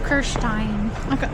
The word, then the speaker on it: Kirsten: The right pronunciation according to German is Kirstein.